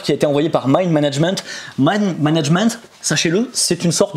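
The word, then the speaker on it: Mind MGMT: allons continuer avec mind MJ MT ça se prononce mind management en fait voilà un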